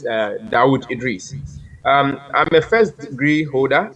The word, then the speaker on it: Dauda Idrisi: It's actually spelled Dauda Idrisi, but the pronunciation is Dawood Idris.